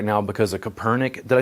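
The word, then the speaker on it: Kaepernick: hubbub in the news right now because of Kopernik did I say his name correctly Kapernick yeah him and then he's being endorsed by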